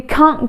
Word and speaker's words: can't: But if we want to say it faster in British English, we usually do not pronounce that T. So for example, I can't come, you can't go, we can't tell.